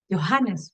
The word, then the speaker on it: Johannes: Johannes, para que no me digan que no pronuncio la H.